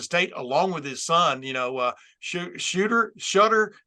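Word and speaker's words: Shedeur: him from Jackson State, along with his son, Shutter. How do you pronounce it? Shooter Sanders? Oh my goodness. Shooter.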